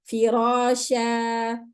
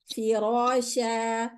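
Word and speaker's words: فراشا: And this is only with tanween fath, okay? not the other one, not with the kasr, not with the dam. So we read firasha, firasha.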